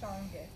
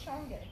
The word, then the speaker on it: Shange: It does look like sage, but it is pronounced a little bit differently. So it's pronounced Shange. And then, what's Shange?